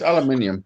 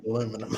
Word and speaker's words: aluminium: well we invented this so it's aluminium come on with aluminum it's like uranium it's not so you